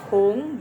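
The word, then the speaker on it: 桶: beda ya pelafalannya ya kalau Hong dalam bahasa Mandarin di pinyinnya itu t-nya jadi th bacanya terus o-nya itu seperti lebih ke u sedikit ya jadi tung gitu ya oke bukan tong kayak tong sampah begini Bukan loh ya teman-teman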